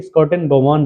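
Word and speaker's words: Schotten-Baumann: इसके बाद आती है स्कॉटन बोमॉन रिएक्शन। ठीक है, नाम थोड़ा सा डिफिकल्ट है। SCHOTTENBAUMANN, ये इसकी स्पेलिंग है, थोड़ा ध्यान से लिखिएगा आप। Certain बोमॉन reaction.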